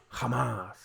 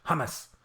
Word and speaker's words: hummus: And finally, it would really help if you dropped the British habit of stressing the first syllable with all foreign words. Example, Hamas instead of hummus. I pronounce it hummus.